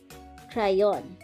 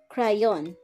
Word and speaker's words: crayon: which means pencil remember it is a hard pronunciation if it is in front of an a o u or a consonant so c is pronounced as k okay again crayon let's listen yo for